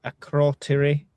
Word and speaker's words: Akrotiri: Reports indicate the RAF uh Akrotiri Akrotiri. Is that how you say it, Jay? Akrotiri.